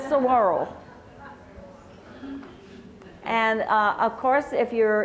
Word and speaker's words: saguaro: I keep telling Dolores, why isn't it pronounced saguaro? She said, it's saguaro.